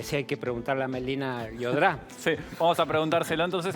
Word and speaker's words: Melina Llodrá: Yo creo que sí hay que preguntarle a Melina Llodrá. Sí, vamos a preguntárselo entonces a nuestra especialista que está del otro lado, Melina Llodrá, que es justamente especialista en compliance internacional.